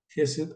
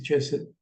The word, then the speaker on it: Jesed: y aquí la tenemos jes Aunque dice ches pues es un término en inglés Así que para nosotros es jes porque es lo correcto como se debe pronunciar la Je la same